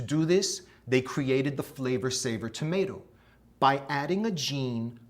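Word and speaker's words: Flavr Savr: It was called the Flavor Saver tomato. That's spelled F-L-A-V-R S-A-V-R, Flavor Saver.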